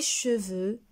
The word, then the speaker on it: cheveux: eux je peigne mes cheveux chaque jour je peigne c'est dur je brosse au bien je coiffe mes cheveux chaque jour alors ici le mont cheveux la lettre x ne se prononcent pas selma est en 6e